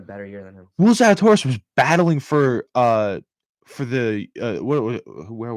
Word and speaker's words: Zalatoris: Do not mispronounce my boy Zally's name like that. Zalatoris? Zalatoris.